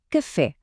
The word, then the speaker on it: café: Pensem em café. A força está no fé.